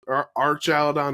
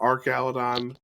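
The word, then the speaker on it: Archaludon: list were raging Bolton it's either Arch Arch aladon or Arc aladon waiting on official pronunciation to know what duraladon evolution is uh how we pronounced that first part of its name but that was the other on I'm always wrong I think it's I think it's Arch right because it's like a bridge like an arch way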